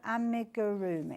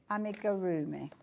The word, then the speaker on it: amigurumi: A amigurumi. I always say it wrong. Amigarroomi.